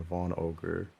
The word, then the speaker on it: Van Augur: Yeah, but I've heard it as Van Augur and Von Ogre. But there's no O, so Van I'm Augur I'm sounds right.